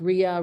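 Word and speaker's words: rya: the front and so it's like a shag rug it's got a lot of texture to it um it's pronounced Ria Ria my mother-in-law taught me to say Ru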